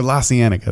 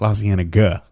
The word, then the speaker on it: La Cienega: Oh yeah, or La Cienega. That's how you say it. La Cienega.